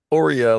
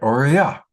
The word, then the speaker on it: Aura: Ora, like Oreo cookie, but Ora. All right. Ora.